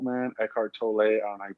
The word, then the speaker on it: Tolle: dude let me tell you something dude i got this eckhart toll man eckhart tolle i pronounce the last name i got the audio